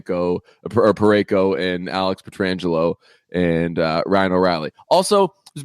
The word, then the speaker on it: Pietrangelo: incorrectly or correctly are saying Peter Angelo that's not the correct who can't be that it's absolutely not that unless it's like unless it's like a Martian Martian thing where people were saying it wrong for years and years and years just excited it's Pietrangelo okay I love Alex